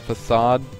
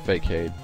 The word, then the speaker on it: facade: Spike oh yes F facade I think it's facade not fake Cade I think it's I think it's facade is how you say it but that's an